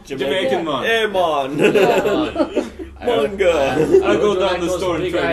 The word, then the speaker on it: manga: I don't say manga. Yeah. I say manga. Yeah. Yeah. If anyone ever says, "How do you say manga?" Say, "How do you say man?" Man. Now say ga. Now say it together.